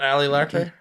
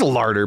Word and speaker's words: Larter: Isn't it Ali Ler? I'm not final destination. It's larder, but you say it like you're trying to keep your teeth in or something like that.